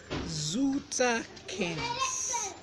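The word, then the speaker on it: zoterkins: Then you have Zutakins. Zutakins is spelled Z-O as in zoo, T-E-R-K-I-N-S.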